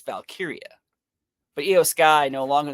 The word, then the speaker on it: Valkyria: Because I want to say like Valkyrie, but it's not. It's Valkyria.